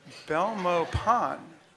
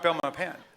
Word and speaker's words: Belmopan: dictionary that we use Belmopan Belmopan hmm alternate pronunciation no just the one are you sure because it's not down my pen I'm sure people pronounce